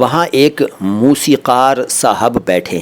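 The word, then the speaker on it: मौसीक़ार: इसके बाद 'मौसिकर', 'कर' नहीं , 'मौसिकर'। मौसिकर का अर्थ है संगीतकार, लेकिन पुरुष संगीतकार और एकवचन। तो इसका उदाहरण यह है: एक मौसिकर सज्जन वहां बैठे हैं।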